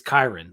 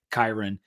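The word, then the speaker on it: Kyron: and then said like it's it's Kiren like Byron and so that's my bad and I got like three YouTube comments saying like you're saying it wrong so so everyone with the hindsight of hearing what Andy bidder had to say I will start to say Kiron it's a i i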